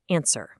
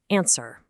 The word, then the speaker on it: answer: In the word answer, the W is entirely 100% silent. No way around it, you pronounce it answer. Never ever say answer.